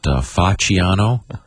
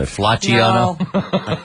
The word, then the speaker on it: Facciano: Is it Facciano? Yeah. That wouldn't be a hard C. Not Flacciano? F-A-C-C.